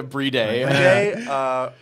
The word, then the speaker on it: Bride: Is it Breed? Yeah, Breede. Arcadius.